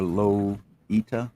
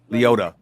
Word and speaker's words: Liotta: how you spell it or lo eta i think that's how you pronounce it yeah right there miss dd's got it right there l-l-l-i-o-t-t-a leota ray liotta okay i